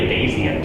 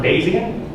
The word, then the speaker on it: Bayesian: You might be asking, how do you even pronounce the word Bayesian? There's 3 typical pronunciations. I say Bayesian. So there's also Bayesian. You'll hear people say that. You'll hear people say the hybrid, Bayesian.